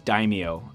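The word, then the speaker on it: Daimio: wrong a lot before it's d a i m i o I don't know how to pronounce that I think it's Dao uh in the comic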